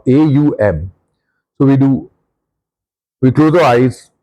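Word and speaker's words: Aum: It's not but a it's exact pronunciation a U m.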